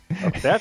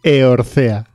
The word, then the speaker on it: Eorzea: No sé pronunciar el nombre. Eorzea. Orcea. ¿Por qué en Orcea? ¿Orcea, seguro? Eorcea. Ah, Eorcea.